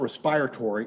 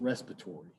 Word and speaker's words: respiratory: And that's not respiratory, it's respiratory.